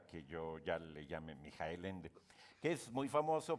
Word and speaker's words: Michael: Mijael. Qué bueno, porque yo nunca he sabido cómo se dice. Yo le digo Michael porque No, tengo un acercamiento con él. Michael en alemán es Mijael, pero si Mijael.